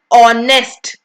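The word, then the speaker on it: honest: एन ऑनेस्ट ऑनेस्ट एन ऑनेस्ट बच्चे लिखा तो एच है बट आपने एच को थोड़ी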